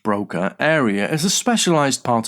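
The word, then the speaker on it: Broca: Brokers pronounced Broka area is a specialized part of the brain in the left frontal lobe responsible for language and speech production.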